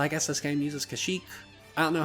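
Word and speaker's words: Kashyyyk: that this game uses the correct pronunciation of kashik defend kashik a lot of games in this era like cotor and even Republic Commando which comes out after this game use the pronunciation kashik and I was under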